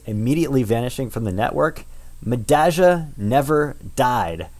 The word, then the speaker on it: Medalla: madaga is finalizing again and by the way madaga is how it is is named after a a subway stop in buenos aires and madaga is how they they pronounce that so you have to say the ja for the double l if you speak uh rio platenze spanish anyway madaga is finalizing